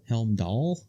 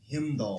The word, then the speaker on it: Heimdall: Helmdall? Himdall.